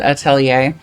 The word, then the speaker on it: Atelier: of the outlier series i know some people like to get fancy on you and pronounce it atelier but within the games themselves they don't really do that so i'm just going to call it atlear and call it a day this one was really